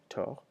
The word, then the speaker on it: tort: Avoir tort, without pronouncing the second T, tort.